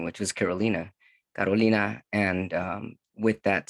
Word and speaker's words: Carolina: it was actually pronounced carolina which is it sounds gorgeous beautiful in spanish not only was i